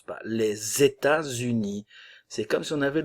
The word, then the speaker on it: les États-Unis: les États-Unis attention liaison les États-Unis le T se prononce pas le S fait la liaison ici le S ne se prononce pas les États-Unis c'est comme si on